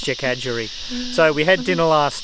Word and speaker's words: Jackadgery: Yes, I'm mispronouncing it to something very, very bad. So it's Jackadgery.